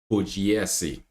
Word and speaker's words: Pugliesi: Pugliesi. Okay. At first, I butchered her name, so I'm gonna do it right.